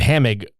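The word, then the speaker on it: Hamegg: When he meets all these fuckers, like, there's this whole dude named Hamig, which it's spelled Hameg.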